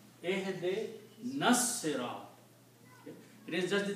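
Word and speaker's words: اهدنا الصراط: Also when you read these together, this noon combines with the swad and alif is not pronounced here.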